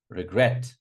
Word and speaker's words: regret: Regret. Regret. A lot of students say regret. I regret all the time. I regret. No. Regret.